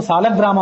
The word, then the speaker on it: ಶಾಲಗ್ರಾಮ: ಹೇಗಾದರೂ ಅದನ್ನ ಸಮರ್ಥನೆ ಮಾಡಿಕೊಳ್ಳಬಹುದು ಆದರೂ ಶಾಲಗ್ರಾಮ ಅನ್ನೋದು ಅಥವಾ ಸಾಲಗ್ರಾಮ ಅನ್ನೋದು ಹೆಚ್ಚು ಶ್ರೇಷ್ಠ ವ್ಯಾಕರಣಬದ್ಧವಾಗಿ ಅಥವಾ ಶಾಲಗ್ರಾಮ ಲ ಬದಲಾಗಿ ಳ ಅಂತನ್ನೋದು ಕೂಡ ಯುಕ್ತವೇ ಲಿ ಅಂತನ್ನೋದು ಅಷ್ಟು ಯೋಗ್ಯ ಅಲ್ಲ ಅಂತ ತಪ್ಪು ಉಚ್ಚಾರಗಳನ್ನ ಸರಿಪಡಿಸಿಕೊಳ್ಳುದು ಒಳ್ಳೆದು ಶಾಲಗ್ರಾಮ ಮುಂದಿನದು ಪ್ರತಿಮೆ ಶಾಲಿಗ್ರಾಮ ಶಾಲಗ್ರಾಮ